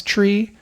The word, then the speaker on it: three: of gets lost so that's why three becomes Tre four kind of is